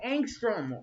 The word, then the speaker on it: Angstrom: Oh, that's how you say his name, Angstrom.